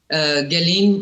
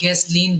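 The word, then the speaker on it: Ghislaine: देखिए उसकी जेफरी एस्टीन की जो कॉन्फिडेंट है जिसके जो अब जेल में है गैलीन और गैसलीन दो प्रोनाउंसिएशन है उसकी फ्रेंच औरत है उसकी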